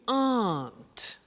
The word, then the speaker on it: aren't: So the difficulty here is the pronunciation of are not, which is aren't.